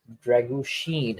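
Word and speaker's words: Drăgușin: actually Dragusin is winning the balls in the air. Dragushin, actually, apparently that's how it's pronounced. Yeah, it's Sheen like Charlie Sheen.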